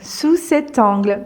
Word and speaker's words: sous cet angle: initiative sous cet angle sous cet angle pareil on fait la liaison ici entre le C et le mot suivant sous cet angle donc